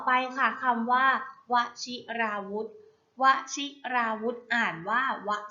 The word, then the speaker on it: วชิราวุธ: ค่ะ คำ ต่อ ไป ค่ะ คำ ว่า วชิราวุธ วชิราวุธ อ่าน ว่า วชิราวุธ วชิราวุธ ประกอบ ด้วย ว แหวน ช ช้าง สระอิ